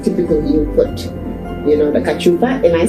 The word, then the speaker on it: cachupa: So from what I have heard you saying, typically you put, the cachupa. Am I saying it right? Yeah, the kachupa will take.